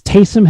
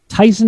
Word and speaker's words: Taysom: It's Taysom Hill, just making sure we've got Taysom that Hill, pronunciation okay. right. Tyson Hill, I think, is a brand of frozen chicken.